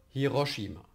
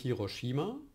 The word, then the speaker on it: Hiroshima: Aber Hiroshima. Also nicht Hiroshima, Hiroshima, aber Fukushima.